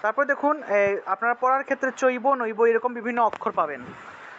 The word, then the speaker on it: চৈব: এটা হলো হসন্ত তারপরে দেখুন আপনারা পড়ার ক্ষেত্রে চৈব নৈব এরকম বিভিন্ন অক্ষর পাবেন ঠিক আছে চৈব